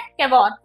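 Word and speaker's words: Cavour: मेरा सीएम यहाँ पे कौन है, कैवोर। अलग अलग प्रोनाउंसिएशन आपको मिल सकते हैं इसके, कैवोर के कुछ कहीं पर कैवूर सुनने में आएगा आपको।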